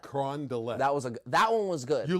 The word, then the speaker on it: Carondelet: The Carondelet. Carondelet.